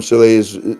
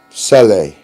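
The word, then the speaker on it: Salih: Iraq you see the president Chalet or I call him silly you actually pronounce it Sally you see the president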